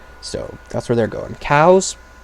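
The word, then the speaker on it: Kau: Cows, spelled K-A-U, which is actually how they're spelled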